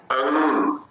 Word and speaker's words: अंग: यदि हम अ को सानुनासिक बोलेंगे तो वह दोनों का मिश्रित उच्चारण होगा और अ के साथ अनुस्वार बोलेंगे तो पहले अ उच्चारण होगा, उसके बाद हम नासिका पर जाएंगे। अंग, अंशा, अंशा, तो दोनों में ये भेद हो जाता है।